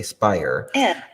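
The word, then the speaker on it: Speyer: my heart so uh tishman how do you pronounce that last name tishman's fire are fire okay Spire uh who is a real estate executive of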